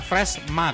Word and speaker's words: Freshmag: Freshma itu tulisannya lah Fresh Mag ya, MAG.